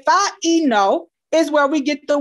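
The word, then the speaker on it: φαίνω: All right, it actually is pronounced phaino, phaino.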